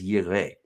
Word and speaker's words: Yireh: Now, this is where we get the term Jehovah Jireh. Okay, now I say that because that's how a lot of people say it, Jehovah Jireh. The word here is Yireh, which means he will